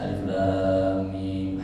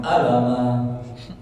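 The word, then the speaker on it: الم: Ya, bacanya nama hurufnya. Jangan alama. Orang artis mau ngajak orang pas sampai surah Baqarah, Bismillahirrahmanirrahim. Alama sakit. Alif lam mim.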